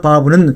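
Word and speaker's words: וָו: 이 자음을 바브라고 읽습니다. 이 철자 바브는 사물을 연결하는 데 사용하는 못, 갈고리처럼 보이는데 이것이 바로 정확한 이 철자의 의미입니다.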